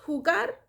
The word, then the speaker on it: jugar: to play how do i say that quieres ju gar that means you want to play quieres jugar quieres hugar and if we want to say um look